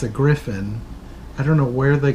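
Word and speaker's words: Gryphon: little sense and they wander off to the greif on yes according to them was apparently the way to pronounce that like everybody pronounced it as greif on its a Griffin I don't know where they got the pronunciation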